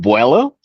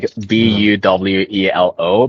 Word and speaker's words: Vuelo: I call it Vuelo, like Buwelo, because that's a Tagalog word that it means momentum in English.